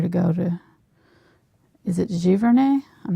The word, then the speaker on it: Giverny: When we visited France, it was the wrong time of year to go to, is it Giverny? I'm not sure how you say it. Yeah, that's correct. Giverny.